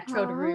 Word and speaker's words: Troderu: But I'm pretty sure that would be said something like, yeah, Troderu.